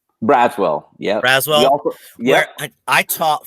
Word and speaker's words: Braswell: So, and how do you pronounce? Is it Braswell? Braswell, yeah.